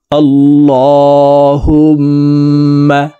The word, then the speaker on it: اللهم: আল্লাহুম্মা, আল্লাহ, এই লামকে ল অর্থাৎ মোটা করে পড়তে হবে, কারণ আল্লাহ শব্দের আগের হরফে জবর অথবা পেশ হইলে এই লামকে ল অর্থাৎ মোটা করিয়া পড়িতে হয়।